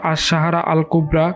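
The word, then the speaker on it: الصحراء الكبرى: সাহারা আরবি উচ্চারণ আশাহারা আল কুবরা কিংবা বাংলায় বলা যেতে পারে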